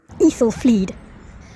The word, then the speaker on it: Aethelflaed: The A-E letters pronounced like encyclopedia. Aethelflaed.